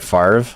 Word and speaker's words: Favre: stupid I'm sorry like Brett Favre is the one that gets me because those letters aren't even in the same order there's absolutely no way you could pronounce it that way if you were literate f a v r e spelled Favre like come on be real